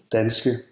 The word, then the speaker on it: danske: in other contexts, it's pronounced more like A when it's a short vowel, Danske.